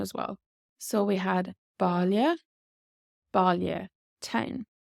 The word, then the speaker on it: baile: So this AI in Ballia town is pronounced Ballia. Ballia. So this AI becomes like an O sound.